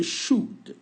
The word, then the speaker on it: should: Vous prononcez should. On n'entend pas trop le L.